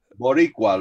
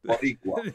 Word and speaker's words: Boricua: How do you pronounce it? Boricua, Los Vapors Boricua.